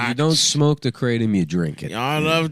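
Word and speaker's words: kratom: Is pronounced k r a y t u m.ratom. I guess that's how you how you spell the pronunciation.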